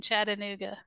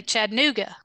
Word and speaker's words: Chattanooga: Yeah, you actually pronounced the A in Chattanooga, the second one. You didn't say Chattanooga.